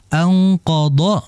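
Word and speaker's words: أنقض: q dorak ya kan anqod yang pertama D kemudian kedua dorok makai huruf d jadi jangan sampai kebalik alladzi anqod D anqod doohrok ini berbahaya sekali ya Jadi yang pertama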